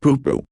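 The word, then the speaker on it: pūpū: Not a person's name, but in Hawaiian, a pupu, pronounced pupu, is an appetizer.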